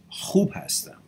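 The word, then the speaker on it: خوب هستم: It's a KH pronounced kh. H is khubastam. It's missing the K to sound khub hastam. Khub hastam. A little bit of strong kh in there.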